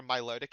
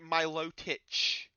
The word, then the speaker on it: Milotic: He pronounces it Milotich. He claims it's like I don't know French or something, and says that the correct pronunciation should be Milotich.